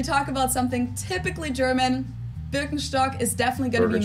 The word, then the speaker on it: Birkenstock: So English speakers usually say Birkenstock. In German, we say Birkenstock. Birkenstock.